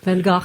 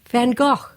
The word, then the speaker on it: Van Gogh: Van Go. Actually, that is that is the correct pronunciation.